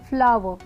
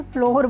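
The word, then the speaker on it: flour: तो इसे भी मतलब इन दोनों वर्ड्स की प्रोनाउंसिएशन तो सेम है लेकिन स्पेलिंग्स डिफरेंट है, तो इसे भी हम क्या बोलेंगे, फ्लावर, फ्लावर। कई बार इसे लोग इसे फ्लोर बोलते हैं, विच इज़ इनकरेक्ट।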